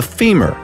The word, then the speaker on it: femur: By the way, the strongest bone by all accounts is the femur, rhymes with lemur.